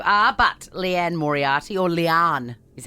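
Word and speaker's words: Liane: I don't know how much of a bookworm either of you are, but Leanne Moriarty, or Leanne is how you pronounce her name.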